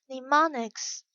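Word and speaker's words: mnemonics: to make memorization easier pneumonics the initial m is silent are clothes of any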